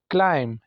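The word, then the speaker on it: climb: silent है उसके बाद क्लाइम चढ़ना इसमें भी बी साइलेंट है आखिर में डाउट शक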